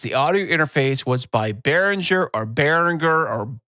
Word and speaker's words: Behringer: a audio interface the audio interface was by baringer or baringer or how do you say is it baringer it's the one you're talking you know what I'm talking about it's Behringer 404 had four audio inputs for four different